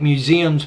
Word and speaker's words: museums: like Museum Times Square don't forget museums you want to make museums plural so put s on it and it's also pronounced as a Z in that case because it comes after a voiced consonant Statue of Liberty's and